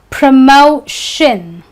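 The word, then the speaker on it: promotion: Re-lay-shun, Pr-moh-shin, shin.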